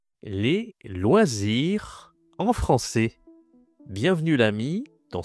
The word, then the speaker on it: loisir: Un loisir, je dois expliquer c'est quoi loisir. Alors loisir, ça se prononce loisir.